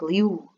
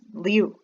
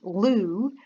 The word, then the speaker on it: Liu: short kind of like liu and in fact some of them not like you like i over pronounce the u but kind of just liu and uh i've also